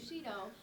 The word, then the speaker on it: Bushido: Bushido.